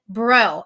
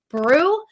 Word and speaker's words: Breaux: empowerment maddie lynn bro i first thought that her last name was brew because she's from the south from louisiana and a lot of that like the southern accent they e-a-u-x is spelt like oh so i'm like am i right am i wrong and she's like no it's like bro so maddie let's first